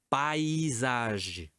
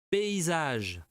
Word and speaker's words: paysage: Non é paisage. Paysage.